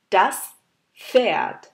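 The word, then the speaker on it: Pferd: তবে শোনার সময় খালি আমরা এফ শব্দটাই শুনতে পারি, তার জন্য যখন পি আর এফ একসাথে দেখবেন তখন আপনারা বা এফ হিসাবে এটা প্রোনাউন্স করলে তাহলে আপনাদের প্রোনাউন্সিয়েশনটা ঠিক হবে। এরপরে দুই লেটারগুলো হচ্ছে আই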